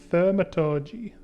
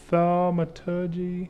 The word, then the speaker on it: Thaumaturgy: alchemy, and more importantly, Thermatology. Thermatology. That's how you want to say it. Thaumaturgy. Yep, that's how I'm going to pronounce it.